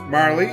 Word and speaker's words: Marle: it going oh well her name's Marley or Marl however you want to pronounce it I kind of prefer Marley myself yeah it's just your imagination